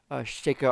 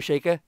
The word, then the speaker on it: Sheikah: been calling a shaker I think I've always pronounced it shake it's one of those things where I were younger I think I pronounced it chica but now I understanding more about Japanese and pronunciation of that stuff they're probably sheikha also the it's also